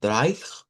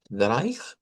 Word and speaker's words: drei: Y luego el 316, que el 3 en idioma alemán se dice Dreich, Dreich, con esa R angular, Dreich.